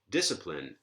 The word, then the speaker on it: discipline: should pattern as light that predicts antepenultimate stress so is that right discipline yeah it looks like that's right these two consonants the Pala are not in the coda of this penultimate syllable therefore the penultimate syllable sit is light therefore antepenultimate stress on dit discipline panoply incidentally this word